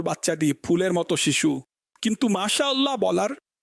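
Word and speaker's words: ما شاء الله: বিশুদ্ধ কি বলে? মাশাল্লাহ মাশাল্লাহ মাশাল্লাহ, হোয়াট ইজ দিস মাশাল্লাহ মাশাল্লাহ, এটাই করে বর্তমানে। মাশা আল্লাহ শুদ্ধভাবে উচ্চারণ করুন।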